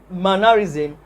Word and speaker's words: mannerism: is the correct answer because my mannerism has the primary stress on the first syllable now the third question